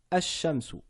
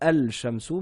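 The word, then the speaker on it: الشمس: Donc c'était bien le lam qui ne s'écrit pas, qui ne se lit pas plutôt. Il s'écrit, hein, mais il ne se lit pas parce que il est suivi d'une lettre solaire, le shin. Donc on ne dit pas al-shamsu, mais ash-shamsu.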